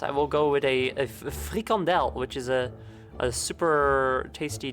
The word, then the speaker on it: frikandel: Or free candle, as I like to pronounce it, like an asshole. I don't pronounce it like that, I'm kidding.